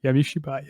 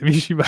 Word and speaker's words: Yami Shibai: Yami Shibai. Yami Shibai.